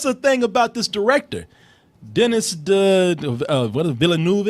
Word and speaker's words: Denis: Denis Villeneuve. I think it's pronounced Denise. Denis Villeneuve.